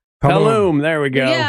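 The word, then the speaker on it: Tulum: Tam Tabula.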